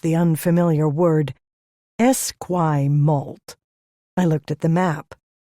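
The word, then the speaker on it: Esquimalt: We're in Esquay Malt now, headed into Victoria proper. He pronounced the unfamiliar word Esquay Malt.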